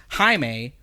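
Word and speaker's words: Jaime: __ ] time I saw that his name was spelled like Jamie so I was like oh his name is Jamie but I've never heard his name pronounced so I was like I I was like because recently I saw an injustice clip of Batman talking about Blue Beetle and he was like haime right because because he's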